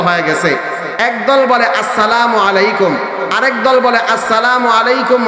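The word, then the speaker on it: السلام عليكم: একজন আরেকজনকে সালাম দিব আসসালামু আলাইকুম। সালাম দেওয়ার সময় মিমের পেশের মধ্যে যখন উচ্চারণ করব, মিমটা যখন উচ্চারণ করব তখন ঠোঁটটাকে গোল করে ফেলবো। মিমের পরে মিমের পরে আইনটাকে সঠিকভাবে উচ্চারণ করব।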